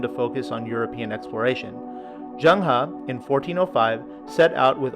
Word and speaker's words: Zheng He: And last on the list is Zheng He. I did some research, and some people also pronounce him Zheng He, but ultimately we're talking about the same person.